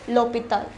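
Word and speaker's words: l'hôpital: with a vowel however it begins with the h which is silent we already learnt what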